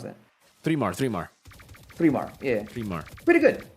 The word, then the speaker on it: 3mar: How do you pronounce that? 3mar.